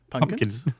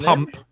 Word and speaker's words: pumpkin: No, pump. As in, like you got a pump. A pumpkin. Pumpkin. Not pumpkin. Not pumpkin. Pump. No, pump. Say pump and then kin at the end of it.